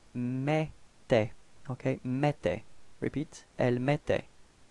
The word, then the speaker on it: mettait: Okay, for the pronunciation, remember that then when you've got this two T right after the E, it does give you the pronunciation for the E, it's open, it's E. Okay, that's the reason why we've got elle mettait.